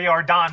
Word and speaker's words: Yordan: I say Yordan because Yordan rhymes with Jordan.